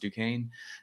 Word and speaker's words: Duquesne: And the only pharmacists at my university who did, which we learned is pronounced Duquesne, it was those who took the drugs of abuse class.